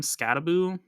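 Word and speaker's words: Skattebo: What's also big for Arizona State is Cam Skataboo, who has a very interesting pronunciation of his name. It doesn't look like Skataboo, but he should run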